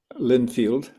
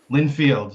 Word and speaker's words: Lindfield: Did I pronounce that correctly? Lynfield. Lynfield.